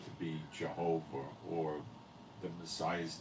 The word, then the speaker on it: Jehovah: The name is not pronounced Yahweh, it's Jehovah. YHVH, transliterating in English, if you could even do that.